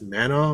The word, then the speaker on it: Manaugh: I don't know how to pronounce his last. It's Manaugh.